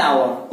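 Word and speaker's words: hour: होता है, vowel sound, since H remain silent, और एच क्या हो जाता है, एच साइलेंट इसमें, इसलिए वॉवेल साउंड ओ से शुरू हो रहा है, इसीलिए हम क्या लगाएंगे, एन लगाएंगे, एन आवर।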